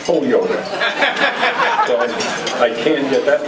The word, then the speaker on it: Holyoke: who was the then sitting state representative for Holyoke I would imagine and he was running for